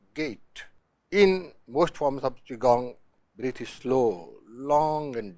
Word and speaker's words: Qigong: how does it work Chong pronounced Chong was developed in China